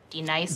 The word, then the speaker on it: Denise: Son of a You say your name right right now. Denise. Say it right. Denise. Correctly. Denise. Right. Denise. Right. D. Nice. That's better. Thank you.